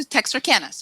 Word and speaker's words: Texarkana: things that I knew and she moves to texarkana's and you ask how to pronounce this so she moves to Texarkana which